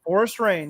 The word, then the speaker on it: Forrest Rain: And, but they brought in, is it Forrest Rain? Is that how you say his name? Forrest Rain, yeah.